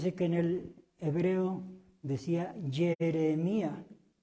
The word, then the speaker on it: Jeremías: Bueno, entonces ya vimos la pronunciación del hebreo, Jeremía. La pronunciación del griego, Hieremía. La pronunciación del español antiguo, Jeremías. Y en el español moderno, ¿cómo dice en su Biblia? Jeremías.